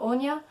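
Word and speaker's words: Áine: So the fairies' names are Anya, which is spelled A-I-N-E, and Dawin is how I've been pronouncing it in my head.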